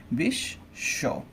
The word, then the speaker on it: বিশ্ব: তাই বিশ্ব এরকম হবে।